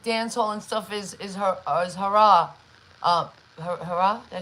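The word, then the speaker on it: haram: So we know that really like dancehall and stuff is hara, hara.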